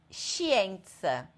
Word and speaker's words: scienza: Scienza, peixe. Não fala o S. Ele fala um som só.